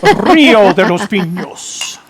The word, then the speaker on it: Rio de los Pinos: Illinois Ghost says, how do you say Rio de los Pinos? We say it Rio de los Pinos.